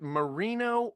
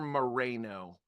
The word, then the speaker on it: Moreno: Is it Moreno or Moreno? He pronounces it Moreno. It's you could argue that it's spelled Moreno. Yes. I find myself going back and forth, kind of like Cuauhtémoc sort of thing. So it is one of those words. It's like, I feel like even he says it differently. He'll definitely accept either pronunciation.